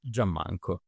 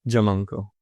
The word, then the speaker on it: Giammanco: track well I'll um let's say with the Italian pronunciation yeah do it I